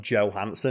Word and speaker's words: Johansson: But yeah, the Europeans and the Danish pronounce that Danish word Johansson.